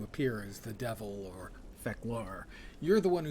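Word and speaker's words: Fek'lhr: when I was playing they pronounced it as fecalar and feklari and I know from the show which as far as I know the origin of fecalar it was pronounced fecalar not feckier but you are entirely correct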